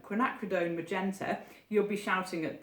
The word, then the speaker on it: quinacridone: of these names do you know how to pronounce I'd love to know but I'm going to say quinacridone magenta you'll be shouting at the film probably